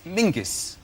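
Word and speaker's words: Menzies: His name is Mingus. Mingus. Yes. Goth. Yeah. Ming. Yeah. But it's pronounced it's it's spelled M E N Z I S.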